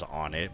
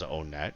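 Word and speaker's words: Onett: It begins in the town of Onnet, some people pronounce it as Onnet, but I always pronounced it as Onet.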